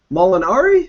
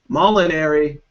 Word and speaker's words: Molinari: Molinari? Is that how I say your last name? It's close. It's Molinari. Molinari. I got the letters right, but the pronunciation wrong.